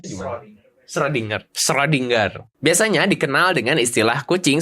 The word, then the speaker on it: Schrödinger: Schrödinger sendiri bacanya gimana? Schrödinger.